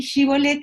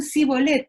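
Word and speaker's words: shibboleth: decían, bueno, perdón, efraimitas, decí Shibolet, y si decían Sibolet, eso lo explica clarito, los versículos 5 y 6, fíjense, si decían Sibolet porque no podían pronunciarlo, dicen desde la otra lengua, lo pronunciaban diferente, diríamos nosotros desde un análisis lingüístico, ¿no?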